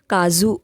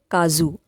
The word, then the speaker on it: काजू: Cashew nut यानी काजू को मराठी में काजू कहते हैं, काजू। ज का प्रोनाउंसिएशन अलग है।